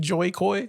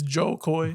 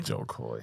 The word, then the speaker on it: Jo Koy: move into Joe Koy I always feel like saying his name wrong I feel like always saying Joy Koy Joy Koy but it's Joe Koy Jo Koy uh my man was